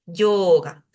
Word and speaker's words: yoga: sean breves por eso cuando nosotros decimos yoga no decimos yoga sino que deberíamos decir yoga esa o debería durar un poquito más lo mismo que en